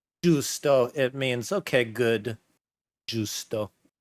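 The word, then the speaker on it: giusto: That's how it's spelled differently, but in the Italian language, that is Justo.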